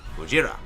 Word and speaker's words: Gojira: he's about Japanese himself, he is going to say the original Japanese pronunciation of the name, Gojira, for the first time the character's name is mentioned in the movie.